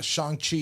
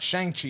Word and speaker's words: Shang-Chi: So Ryan and I are going to Austin this weekend to go hang out with his dad, and we're gonna go see Shang-Chi and the Legend of the Ten Oh, Rings.